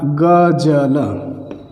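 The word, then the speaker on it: ग़ज़ल: लेकिन अगर मैंने यहाँ पर नुक्ता लगा दिया, अगर इस जगह पर नुक्ता लग गया तो ये फिर इसका प्रोनाउंसिएशन जो होता है वो थोड़ा सा अलग हो जाता है। प्रोनाउंसिएशन क्या हो जाएगा? गज़ल, गज़ल।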